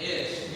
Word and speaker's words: ish: Ish. Ish. It's like saying fish without an F.